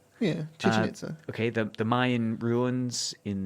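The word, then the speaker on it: Chichén Itzá: this was at, do you know how to pronounce it? Chichen Itza? Yeah, Chichen Itza.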